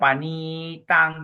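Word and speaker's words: paṇītaṃ: the next line your panitang dia pangil long eye dia panitang panitang panitang yes you have to focus on a long eye and focus on a short a ne te ne te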